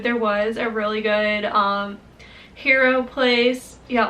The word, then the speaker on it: gyro: There was a really good hero place. Yeah, it looks like gyro, but it's pronounced hero place in Oya.